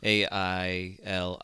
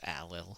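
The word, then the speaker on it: Ailill: best with that like a i l i l l is alil and not like ail as you might pronounce uh in like American English yeah but so we're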